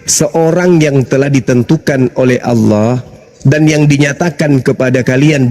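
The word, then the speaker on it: الله: deh baik-baik itu ada itu a l a ha itu ada ah iya itu bacanya apa karena ini berasal dari Quran maka kami membacanya Allah lah berasal dari Quran gimana Mana?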